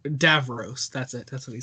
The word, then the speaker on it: Davros: Skara okay sorry sorry I like my uncle does not say does not say Dave Rose he says was it um Dave Davros that's it that's what